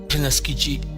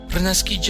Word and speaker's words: renaskiĝi: A palavra Renaskiji, Naski quer dizer nascer. Renaski é renascer. O sufixo gi, com G de gato, ou G de gato, e o sufixo significa algo feito de fora para dentro.